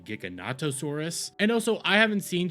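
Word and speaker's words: Giganotosaurus: I didn't know the actual pronunciation of the Giganosaurus Rex was actually Gigonattosaurus.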